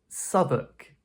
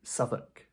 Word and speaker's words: Southwark: This is pronounced "Southwark".